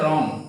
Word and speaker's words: wrong: তাহলে RIT, right, মূলত উচ্চারণ আর থেকে হয়েছে এবং এইচটা কি হয়েছে, সাইলেন্ট আছে। এরপরে আমরা লক্ষ্য করি এখানে রং, WRONG, রং মানে হচ্ছে রং, মানে রং মানে ভুল করা, সেটা রং মানে কি, ভুল করা, ভুল, রং মানে ভুল।